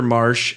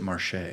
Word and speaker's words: Marche: And well, so the main character Marsh, his little brother is handicapped. I pronounced it Marche. Marche.